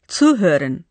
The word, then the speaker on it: zuhören: শোনা, zuhören, এই ক্রিয়াপদেও একটি উপসর্গ আছে যার ওপর উচ্চারণের সময় জোর দেওয়া হয়।